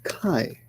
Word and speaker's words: 甲斐: And it's pronounced kai, like so.